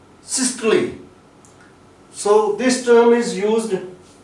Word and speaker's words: systole: pressure, like systolic, diastolic, and systole, not systole. This word is systole, and here E which has occurred at the end of a word, it is giving its sound E, systole.